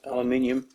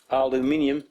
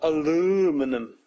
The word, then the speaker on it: aluminium: this flimsy stuff called aluminium. That's right, aluminium. Say it with me. Aluminium, not aluminum. That's how Urbanus would pronounce it.